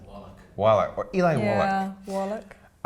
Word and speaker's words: Wallach: And Tuco, Eli Wallach, will know, I'm about to get a pronunciation correction here. I can see it in your eyes, Tom. I would say Wallach.